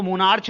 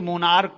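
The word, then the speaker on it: monarch: इसको for example मोनार्क, इसको मोनार्च नहीं पढ़ते, मोनार्क पढ़ते हैं, तो ऐसे केसेस में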